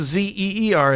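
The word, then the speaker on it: Zira: Uh I know it's spelled Z I R A, but just think of it as Z E R A in your head, in your mental picture.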